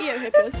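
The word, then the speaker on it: Eohippus: oh close e eo hippus how would you pronounce that e o h i p p u s yeah eo hippos how big is the world's tallest horse hands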